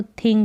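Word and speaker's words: thing: थिंक का मतलब सोचना आई एनजी जैसे इंग होता है टी एच लग गया तो थिंग हो गया थिंक थिंग थिंग का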